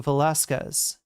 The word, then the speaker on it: Velasquez: The U is usually not pronounced after the Q. Velasquez.